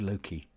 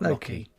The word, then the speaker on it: Loki: I am saying it right. It is Loki, not Loki.